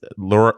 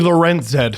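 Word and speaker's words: Lorentz: It's Lorent enough. So, it's actually it's both because Mark Masters they had a thing on they have a thing on TSN about how to say the name. It's actually Lorenz Masters is on and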